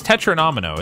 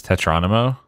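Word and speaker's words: tetromino: everything it isn't it it's tetra-nomino isn't it is it not why am i adding that syllable my brain is doing it bad it's doing a confused it's tetronomo for some reason that sounds less correct even though it's right tetra nomino sounds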